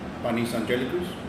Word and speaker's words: Panis Angelicus: And I may, butcher the name of the song, but Panis Angelicus? Mm. Is that how you pronounce it?